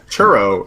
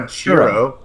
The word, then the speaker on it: churro: churro what um you it's churro it's not a chroo churro I think that's